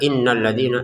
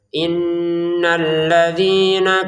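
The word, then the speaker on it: إِنَّ الَّذِينَ: Jangan sekedar innalladina innalladina ya. Inna gitu ya. Innalladzina kafaru.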